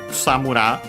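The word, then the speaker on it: くさむら: So yeah, Kusamura, again unaccented, technically could make sense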